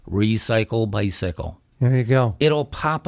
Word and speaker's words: Recycle Bicycle: So it's just, remember, it rhymes. Yeah. Recycle Bicycle. Recycle Bicycle.